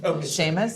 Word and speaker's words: Seamus: Uh, just to clarify, pronouncing your first name, Sheamus.